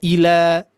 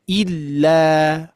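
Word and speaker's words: إلا: Jadi tidak ila ila tapi illa illa gitu ya.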